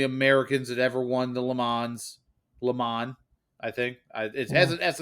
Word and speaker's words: Le Mans: that ever won the le mans le mans i think i it hasn't that's at the end of it but i'm depends on your accent i guess fairly serious pronounced lemon and that's what it